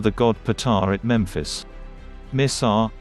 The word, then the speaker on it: مصر: Misr, Arabic pronunciation, is the classical Quranic Arabic and modern official name of Egypt, while Masr is the local pronunciation in Egyptian Arabic.